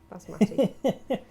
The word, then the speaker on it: basmati: Basmati.